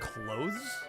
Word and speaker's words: clothes: You're supposed to pronounce the TH.